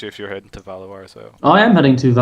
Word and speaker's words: Valois: I actually asked my friend who knows how to speak French, how to pronounce. Valois.